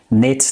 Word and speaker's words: knit: kneeled both are correct knit knit knit or knit knitted knitted K silent of course Whenever there is k n together so K is always